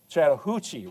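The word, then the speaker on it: Chattahoochee: right down here, the Chattanooga or excuse me, the the uh Chattahuchi River.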